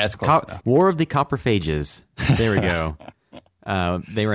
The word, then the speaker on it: Coprophages: how did I pronounce that earlier? War of the Coprophages. Yeah, that's close. War of the Coprophages.